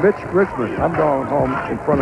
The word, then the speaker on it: Mitch Richmond: the press conference said his name has been butchered by more people in this tournament including us he's been called Rich Mitman Milt Richmond rich milman and it's Mitch Richman I'm going home in front of the mirror